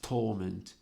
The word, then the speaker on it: torment: a contrasty sound Relentless torment and more in detail the accent as a remarkable importance on these two words Relentless torment the accent is on the first syllable of Torment which which is still